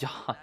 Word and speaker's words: Yan: We have Xian versus Yan. Well, it's pronounced Yen, but whatever.